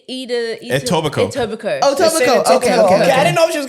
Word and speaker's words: Etobicoke: it Etobicoke? I'm at college in Etobicoke. Ossington. You know what I Etobicoke. mean? Yeah, I'm staying in Etobicoke. I hear people- foreigners pronounce it Etobikaki.